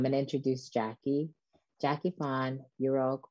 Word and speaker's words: Yurok: It's pronounced Yurok and Washo and Surigaonon, and we live in Aquas, Chesne.